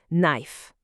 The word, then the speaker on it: knife: La toute première lettre est muet. Le K ne se prononce pas du tout. On dit juste knife, knife pour knife, knife.